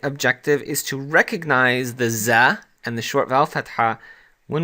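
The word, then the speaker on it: ز: we have here the za in arabic and the za is like the z in english like as in zebra so that's pretty simple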